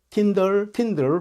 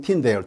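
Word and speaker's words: Tyndale: 위클리프랄지, 그 다음에 윌리엄 틴데일, 틴들 혹은 틴데일 두 가지 발음인데요.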